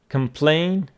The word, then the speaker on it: complain: So complain and complaint, both of them the stress on the second syllable.